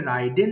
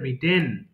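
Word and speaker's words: ridden: এবার বলেন রাইড road রিডেন এটা ভুল করে রাইডেন বলে ফেলি আমরা হ্যাঁ এটা কিন্তু হবে রিডেন এরপরে রিং ঘন্টা বাজানো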